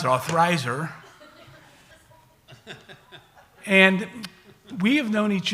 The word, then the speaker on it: Althizer: She told me how to pronounce it, Althizer.